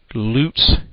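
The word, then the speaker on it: Leut: place to find out this information is called Loot's Jersey Devil page, and Loot is spelled L-E-U-T.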